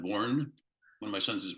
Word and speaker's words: Borgen: spelled Borgen b-o-r-g-e-n um but it's pronounced born one of my sons